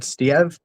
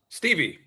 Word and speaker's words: Stieve: Stev. Stevie. Two first names.